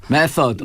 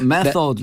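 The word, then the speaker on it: method: 메서드. 네. 좋아요. 발음 좋았어요. 메서드 네, 좋아요. 메소드라고 안 거든요.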